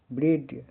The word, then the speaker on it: bread: जैसे BREAD ब्रेड, ब्रेड का उच्चारण प्रोनाउंसिएशन ब्रेड। यहाँ पे ए के बाद क्या है, डी है, इसका उच्चारण क्या हो रहा है, ए हो रहा है। आ बी ब रे अड, यानी ए का उच्चारण ए हो रहा है। ए का उच्चारण ए छोटी ए की तरह होता है।